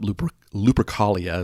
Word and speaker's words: Lupercalia: pagan holiday i'm going to mess this up lupercalia is how i i pronounce it but there was an actual holiday